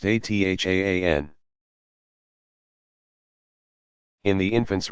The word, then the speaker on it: adhan: Sometimes also the baby's father will whisper the call to prayer, adhan, pronounced athaan.